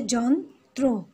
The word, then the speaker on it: যন্ত্র: তো এখানে কিন্তু আমরা রফলার ক্ষেত্রে সেটা ব্যতিক্রম আমরা উচ্চারণগুলো পাচ্ছি, যেমন হচ্ছে যন্ত্র, যন্ত্র, তারপর হচ্ছে কেন্দ্র। আমরা কিন্তু রফলাটা ঠিক থাকছে, আমরা রফলাটার কিন্তু আমরা উচ্চারণটা পাচ্ছি।